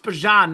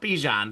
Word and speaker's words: Bijan: Pronounced Bijan, not Bijan.